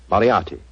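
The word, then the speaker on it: Moriarty: mispronounce it I'm afraid I'll have to begin calling it the way it looks m o r i a r t y mariati mariati I shall remember that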